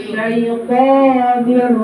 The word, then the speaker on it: শাইতান: আউজুবিল্লাহি মিনাশ শাইতানির রাজিম শাইতান শাইতান মুখটা গোল করবেন না ইয়া লাগাইবেন না শাইতান শাইতান শাইতানির রাজিম শাইতানির রাজিম অনেকে শাইতানি বেশি ভুল করে বলতেন শাইতানির রাজিম শাইতু হবে না ঠোঁটগুলি যাতে না লাগে শাইতানির রাজিম শাইতানির রাজিম